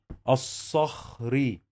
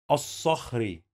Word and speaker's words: الصخري: منا منا مي مي نا منا منا منا الصخري الصخري أص أص أص أص. زي ما احنا شايفين عندنا حرف اللام لا ينطق، we don't pronounce this لام.